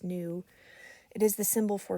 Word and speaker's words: nu: let's see so new it's pronounced new it is the symbol